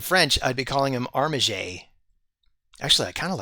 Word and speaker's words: Armiger: Is it Armagur or Armager? I say Armager because I assume this is from the French word armiger.